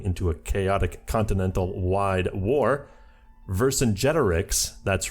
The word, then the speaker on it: Vercingetorix: Vercingetorix, that's right, I learned how to pronounce it, sides with his former enemy Wilhelm II to fight against the 2 Sicilies.